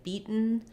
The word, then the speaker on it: beaten: where they have beaten, they have a stopped T and a syllabic N. So I don't say beaten or bitten typically in American English. I say beaten, bitten. I stop my T and then I make a short N sound.